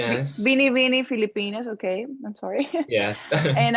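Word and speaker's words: Binibining Pilipinas: It was actually the week of the how do you say Bibili Binibining Filipino? Pilipinas. Bini Bini Filipinas.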